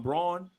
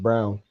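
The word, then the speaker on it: Braun: from KU okay I'm brawn well his name is actually pronounced Brown that's funny enough I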